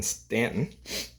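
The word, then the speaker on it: Staunton: it's spelled St u n t o n pronounced Stanton for some reason the quartet was formed in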